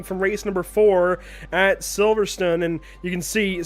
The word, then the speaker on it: Silverstone: like the you know these brits say silverstone that's different silverstone and there's an e there at the end it's silver stone definitely but silverstone silverstone i